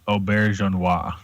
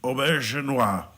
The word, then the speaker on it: Auberjonois: our visitor early the the way to pronounce Renee's last name is Auberjonois Auberjonois yeah definitely French yeah I would say